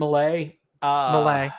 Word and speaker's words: Milei: Milei. Milei.